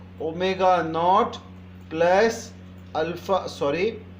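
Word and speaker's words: ω₀: Similarly जब u की बात करते हैं तो u is your initial velocity, तो यहाँ पर आप इसे लिखेंगे ओमेगा और नीचे 0 लगाएंगे और इसे प्रोनाउंस करेंगे ओमेगा नॉट.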